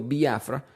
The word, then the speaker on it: Biafra: Y por si acaso se escribe Biafra, no tiene acento en la I. Estoy diciendo viafra porque en el inglés, especialmente en Nigeria, se pronuncia de esa manera y estoy tratando de ser honesto a como ellos lo llamarían.